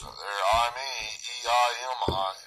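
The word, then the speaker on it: εἰμί: You heard it pronounced it there. I, me, E-I-M-I.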